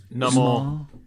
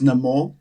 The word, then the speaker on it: Namor: So in the film he's pronounced more as Namor, but in the comics he is Namor, which is actually Roman spelled backwards.